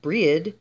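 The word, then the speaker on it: Brighid: with many goddesses breed as many names breed pronounced breed Brig briena bridgid brandu Bridget and was taken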